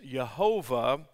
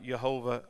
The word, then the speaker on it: Jehovah: that we know as jehovah or jehovah but yet in hebrew it's not pronounced with the j it's a y jehovah and then jehovah god jehovah elohim now jehovah or